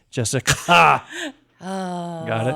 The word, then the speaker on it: Jessicka: I tried to put the little extra emphasis on the CKA. Jessica. Oh, got it.